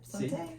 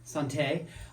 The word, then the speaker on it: Sante: Yeah, Sante. Sante.